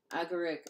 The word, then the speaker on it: agaric: Agaric or agaric. There are two pronunciations of that.